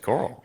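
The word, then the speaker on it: Korl: rogish self Carl yeah again not I'm not mispronouncing Carl it's spelled k o r l that's how I pronounced it as well yeah it's Carl uh and she's like what say you and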